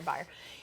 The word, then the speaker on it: Beier: good fortune of having my last name rhyme with Beier, too. So that was the slogan, it was Fire Beier.